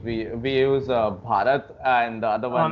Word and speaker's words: Bharat: We use Bharat, and the other one name. I must be mispronouncing it. Is it like BHAJRAT? There's no J. It's BHARAT. It's been the name for India for like thousands of years.